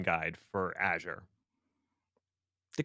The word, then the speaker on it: Azure: spoken to so many different Microsoft employees that pronounce it different I've heard yeah AZ sure that's not because they're right they do it to vex me it I have never seen an official pronunciation guide for Azure the correct answer is clearly Azu well and